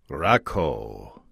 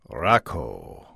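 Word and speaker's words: Rakau: Hey guys, the name of the hop is Rakow. Rakow. Hope that's close. Rakow. Thanks for the help, Greg. Let's see if I can remember that for next time. Rakow.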